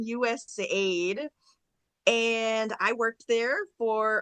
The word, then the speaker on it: USAID: in the agency about how do you pronounce the acronym? Is it US aid or is it USA or we had a whole debate about that? But I think we settled on US aid and I worked there